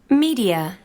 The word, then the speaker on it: media: Media. Media. Media. First syllable.